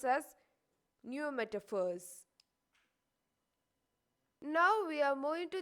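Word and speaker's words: pneumatophores: fruits are called as neometaphors you should be careful when you pronounce it because p is silent and we pronounce as new metaphors now we are moving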